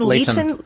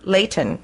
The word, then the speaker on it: Leighton: I I said Leon. Leighton. Leon. Leighton. I would say Lei. Well, because it's Lee.